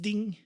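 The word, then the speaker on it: 钉: It's pronounced ding.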